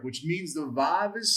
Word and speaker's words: vav: it's your surik, which means the vav is silent.